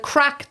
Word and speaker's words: craic: So the crack, the Gaelic word crack, is spelt CRAIC.